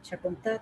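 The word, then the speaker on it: Chocontá: Chacontá, que tiene acento en A, Chacontá también es otro libro colombiano bueno, referente a carreteras.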